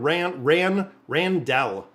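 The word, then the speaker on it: Randle: It's Rendell. R-A-N, Randell, D-L-E. That's how I pronounce it.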